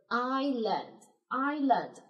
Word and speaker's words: island: 然也可以哈。OK。Now next word island，那注意一下哈，这